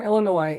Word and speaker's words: Illinois: Illinois or Illinois Illinois Illinois the S is silent so she's from Illinois and her grandma and